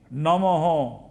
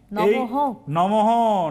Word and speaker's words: নমঃ: cream হৃম শ্রীম cream নমহ তাহলে এটা হচ্ছে ডবল লাইন হবে কি হবে এখানে আবার গুরুবে নমঃ যদি দীক্ষিত হন তাহলে গুরুবে নমহ কথা উচ্চারণ হবে নমহ নমো নয় নমো নমহ কি বলা